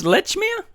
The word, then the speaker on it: Lechmere: in this series but his name actually was lechia what's that Lech I'll give me a break seriously pronunciation tomato tomato it's lechmere that sounds rather lecherous still